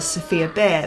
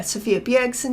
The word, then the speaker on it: Sophia Bjergsen: And now we've got Sophia Bjergsen. For how to pronounce that, I was going to call her Sophia Bear. But yeah, Sophia Bjergsen here.